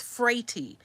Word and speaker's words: Frati: In America, it's Frati. Every other family member that we speak to who are not in America, they do not pronounce it that way. And they are a little surprised that we do. Of course, you know, it's frati.